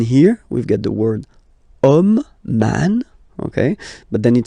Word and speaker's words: homme: And then here, we've got the word homme, man, okay? But then it starts with H, as in French, H is not pronounced, so the first sound that we hear is O, okay?